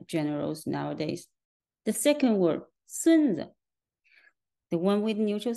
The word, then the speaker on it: 孙子: It's pronounced as 孙子. In the second word, the second syllable is pronounced in the neutral way, and the word is pronounced as 孙子.